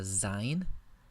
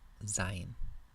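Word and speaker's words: זין: The next letter is a zayin, pronounced like the English Z, zayin. Here you notice in the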